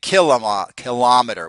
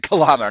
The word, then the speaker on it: kilometer: So for example, we have the millimeter and we have the kilometer. We pronounce it kilometer, not kilometer.